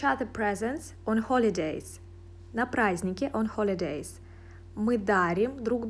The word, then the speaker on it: праздники: На праздники, по праздникам. Holiday – праздник, holidays – праздники. Be careful, we don't pronounce d.